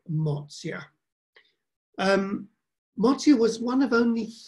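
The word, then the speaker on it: Mozia: um marzia we use I tend to use the Italian word for it pronunciation Marcia but you will see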